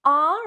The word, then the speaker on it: our: Are is probably a little bit easier, our car, but our, there's a little bit more movement in the mouth. There's a diphthong there. Our, ow, our. Technically 2 syllables with a diphthong.